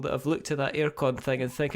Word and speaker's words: Airecon: But that's air like the river. So AIRECON.